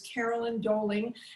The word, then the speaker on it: Carolyn Doelling: First, I'll introduce Carolyn Doelling. Am I pronouncing your name right, Karen? That was perfect.